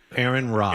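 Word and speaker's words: Aaron Rai: What's the guy's How do you pronounce the guy's name that won it? Ry. Aaron Ry.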